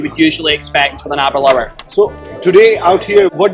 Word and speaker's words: Aberlour: Today we are here at the booth of Aberlour, which rhymes with happy hour.